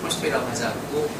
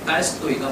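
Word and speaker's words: Толстой: 러시아로 이제 그 톨스토이라고 하지 않고 경험을 써서 격음이 아니라 톨스토이라고 되게 번역해요. 우리나라 외래어 맞춤법 표기안 때문에 톨스토이라고 씁니다. 근데 원래 러시아 발음은 경음이고 딸스토이가 맞습니다.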